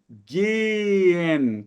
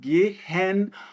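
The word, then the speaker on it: gehen: possui essa letra Então embora a a pronúncia correta seja sempre genen com o h mudo Pode ser que um alemão na hora que esteja conversando com você estrangeiro ele vá falar geren para você não confundir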